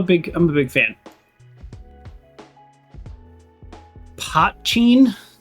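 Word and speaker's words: poitín: Potcheen. That's how that's pronounced. Potcheen. Because the only word I could think that was even close is like poutine, which is like gravy on French fries.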